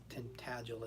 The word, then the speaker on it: Tintagel: Tintagel is what they pronounce it.